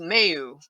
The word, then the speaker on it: Maillous: Well, actually, I had an aunt whose her last name was Mayu, but it was spelled Maillous. Yeah, yeah. But that's the way it's supposed to be pronounced.